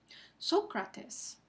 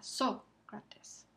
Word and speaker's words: Sócrates: Sócrates. El acento ortográfico marca dónde está el acento prosódico en la primera sílaba. Sócrates.